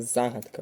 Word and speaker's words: загадка: другий склад так читаємо слова загадка падає на другий склад на перший склад паде